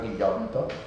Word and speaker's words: Ghigliotto: Esta novela de Galo Ghigliotto yo lo pronuncio así como italiano, ¿no? El apellido es italiano, Guillotto, que es un chileno,